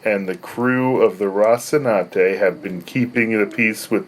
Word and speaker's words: Rocinante: It's Rocinante. Rocinante have been keeping the peace. Wait until you see me try to pronounce some of these new character names.